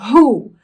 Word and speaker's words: who: Não tem muita explicação a pronúncia. É assim porque é e acabou, tá? Então, olha só. Who.